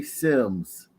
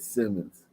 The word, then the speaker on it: Sims: going crazy that Clearly say Sims and she just said Simmons it clearly seems s-i-m-s mispronounced people names and if you have somebody